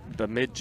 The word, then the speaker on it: Bemidji: From, you tell me how to pronounce that. Bemidji. Bemidji State.